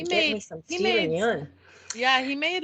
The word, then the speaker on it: Yeun: the only thing is, Evan Peters is up against Steven Yeun. Is that how you pronounce his name? From Oh, Yoon.